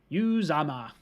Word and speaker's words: Uzomah: See, this is how you pronounce things. Uzomah.